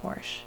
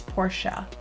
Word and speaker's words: Portia: And you don't say Porsche, because if you watch the show, you know that that's not how you say it. It's Portia.